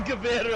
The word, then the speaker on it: Gewehr: So then they're like, so what's this? The Gruyere? It's the Gewehr? I had no idea it was pronounced the Gewehr either.